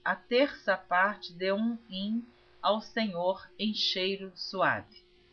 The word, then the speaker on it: him: gosto de esclarecer que essa palavra in está escrita h i m alguns pronunciam rim mas eu estou lendo como está escrito em português porque eu